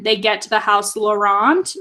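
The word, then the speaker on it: Laurent: about is when they get to the house laurant right that's how we say his name yeah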